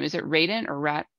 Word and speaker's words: Radant: how you've seen your last name is it Raiden or rat how do you say it we're Dan and I actually written my first name